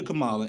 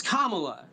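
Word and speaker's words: Kamala: And it has dropped 10 points from Biden to Camala. And they in the same goddamn election cycle her name right. It's Kamla, right?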